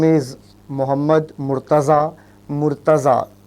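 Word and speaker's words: Murtaza: Mortaza a bit challenging to pronounce. Yeah you can uh call me Mortaza sir. M u r t a z.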